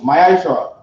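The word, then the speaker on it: מעשר: Means tenth in the Hebrew and is pronounced Ma'ashra.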